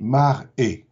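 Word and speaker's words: מראה: Un prodige, en hébreu, biblique comme aujourd'hui, se dit mar-é et ça s'écrit M-R-H. Seulement, le même mot, M-R-H, si on change les voyelles et qu'on entend mar-a, ce n'est plus un prodige, c'est un miroir.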